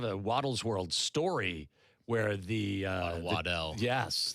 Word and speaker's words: Waddell: would mispronounce our name, that's the fine French pronunciation. Waddle is the true Scottish and English pronunciation.